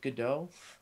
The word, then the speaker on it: Godot: Sure, so, yes, right now I'm using a game engine called, they usually pronounce it Godot. Is it Godot?